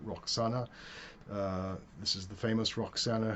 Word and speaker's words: Roxana: Her name was Rashanak in the native language. The Greeks pronounce it Roxana.